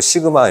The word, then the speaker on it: 시그마: 그리고 S를 그리스에서 알파 A 아니고 알파 B 아니고 베타 하듯이 S 아니고 시그마 이렇게 있거든. 시그마.